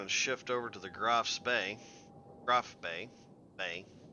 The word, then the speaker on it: Graf Spee: shift over to the Graf Bay. Graf Bay. Bay. I always say that name wrong. I always want to say it with an S that's not there.